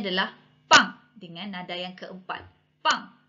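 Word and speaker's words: bang: Okey, anda perlu tukarkan kepada huruf P waktu nak sebut. Okey, huruf P. Contoh perkataan pertama B A N G. Okey, B A N G. Dalam sebutan bahasa Mandrin disebut pang.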